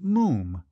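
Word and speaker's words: Moffam: "It's spelt M-O-F-F-A-M, but pronounced Moom."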